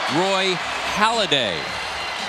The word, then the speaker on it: Halladay: Roy Halladay. That's how you pronounce it.